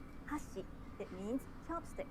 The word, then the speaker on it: 箸: For example, if you say hashi, it means chopsticks. 箸、 But if you say hashi, it means bridge.